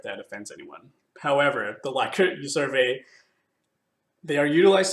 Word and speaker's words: Likert: had in this unit the actual pronunciation of this word is liquor however I only recognize this as being like it personally so I have been